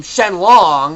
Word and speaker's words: Shenlong: It pronounced Shenron's name Shenlong, which is his original name.